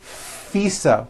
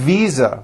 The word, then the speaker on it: visa: her International faisa correct no I said fisa with an unvoiced F I should have said V Visa with a voiced V living I am living